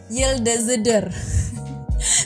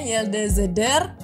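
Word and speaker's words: yıldızdır: yild di zidir kan Tapi itu e e apa namanya I yang gak ada titiknya itu bacanya e jadi bacanya yil dezeder susah juga jadi itu bacanya yde zeder kemudian tuh parlayacak bukan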